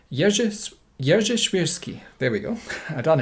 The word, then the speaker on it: Jerzy Świrski: This is vice-admiral I'm going to have to try and pronounce this correctly. Jerzy Świrski. There we go. I done it. Jerzy Świrski.